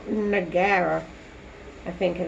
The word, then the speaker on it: Nagaira: Nagaira.